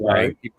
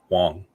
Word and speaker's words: Wang: It's not Wang. I just watched a little bit of his video. He pronounces it Wong. Oh, Wong? But it was an A? It's an A, but he pronounces it Wong.